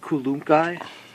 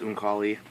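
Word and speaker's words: Unukalhai: 2 Unkulunkai. What? It's actually pronounced Unkali, but I like to make fun of it.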